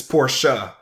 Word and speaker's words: Porsche: have to mess its Porsche because look at that little sche I yeah so that's